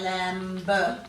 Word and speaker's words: lamb: So quite often when we're adding silent B to a word, there's an M before the B. And that's what makes it too hard to say.